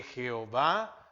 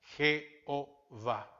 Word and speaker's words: Jehová: Colocaron las vocales de la palabra Señor, Adonai, a las 4 consonantes y se puede pronunciar Jehová.